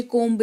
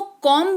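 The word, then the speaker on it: comb: जब बी के ठीक पहले एम लिखा हुआ हो। तो इसको कॉम्ब नहीं पढ़े तो क्या पढ़ें?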